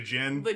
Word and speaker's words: Djinn: It's spelled with a D, like Django. Like That didn't help. Like the Djinn. the Yeah. Djinn.